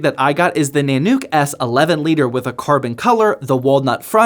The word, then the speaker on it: Nanuk: to the Thor Zone nanuk I actually still don't know how to pronounce this I was saying Nano Q the entire stream but got told towards the end that it's nanuk at least that's what I